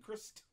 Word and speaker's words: Christ: And your actual name pronounced with a T at the end, like Christ. Yes. Christ.